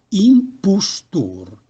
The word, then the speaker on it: impostor: La vocale O, nella lingua milanese, corrisponde, se atona e senza accento, alla U italiana, U dolce. Impostor pronuncia impustur.